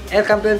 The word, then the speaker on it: El Campeon: And then, El Campeon El Campeon Pigeon Feast, yun ang tamang pronunciation mga kalapati.